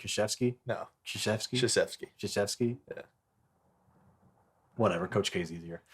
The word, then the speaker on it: Krzyzewski: Krzyzewski. Dude, One more time. Krzyzewski. Krzyzewski. Krzyzewski. There's no K sound in there. That No. sound like Krzyzewski. No. Krzyzewski. Krzyzewski. Krzyzewski.